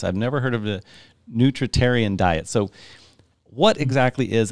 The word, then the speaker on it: nutritarian: what is the name this how do you pronounce the name of your the specific diet that you kind of follow a nutritarian diet nutrition and this is the first time